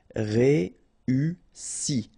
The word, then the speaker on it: réussi: Réussi, okay, first you've got this E, then U and double S, so really strong S and E. Réussi, réussi.